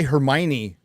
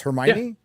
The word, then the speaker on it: Hermione: I want to say Hermione X-Ray Girl, but it's not Hermione. It is. It's Hermione.